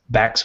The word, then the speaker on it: Bax: Bax with an X, BAX, rhymes with tax.